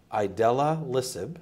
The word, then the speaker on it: idelalisib: as, and I want to make sure I pronounce it correctly, idelalisib.